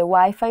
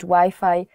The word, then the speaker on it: Wi-Fi: So you have to change the Wi-Fi pronunciation. Even though the word is the same, the spelling is the same, you have to change Wi-Fi to Wi-Fi.